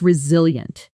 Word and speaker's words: resilient: That's resilient. Shadow it. Resilient. Resilient. Four syllables. Stress on the second.